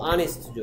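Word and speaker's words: honest: 근데 이거 발음이 뭐야? 그렇죠. 아니스트죠. 이거 아니스트. 그렇죠. 아니스트. 그렇기 때문에 어 아니스트 보이가 아니고 뭐라고 한다? 언 아니스트 보이 해야 된다.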